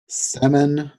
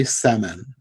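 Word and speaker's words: Semon: It looks like Sermon, except there's no R, so Semin.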